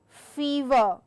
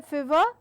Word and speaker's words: fever: such as teeth metre fever so I do not say fever but I say fever so it's a long vowel sound there and then we